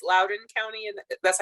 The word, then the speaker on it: Loudoun: tonight i know you are from uh it's loudoun county and that's how you say it right